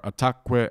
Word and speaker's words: ataquë: So it's pretty rare that these two consonants make a syllable stressed that wouldn't be stressed anyways, because it would be the third to last syllable.